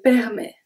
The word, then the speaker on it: permet: Si le temps le permet. Si le, we pronounce everything. Temps, temps. Then we have the P and we have the S that are silent. Le permet. Permet. The T is silent.